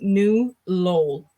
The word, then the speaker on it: New Lowell: The city I live in is actually pronounced New Lowell. New Lowell. Okay. Yes. See, again, I'm doing all the letters, right? Lowell. I think that's the French in me. I just kind of roll it off my tongue, right?